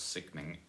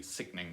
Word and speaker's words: sickening: sickening and in that the stress will definitely be on the first it will be sickening not singing so I'm